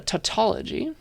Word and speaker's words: tautology: we call it a tautology that's how you pronounce this word it's like taut like you're pulling a string and ology the study of it for no good reason so it's a tautology